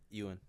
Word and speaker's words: Ewan: was you hahaha Alex I thought it was Ian McGregor Lewin ooh what Ewan you and McGregor that's definitely it that's not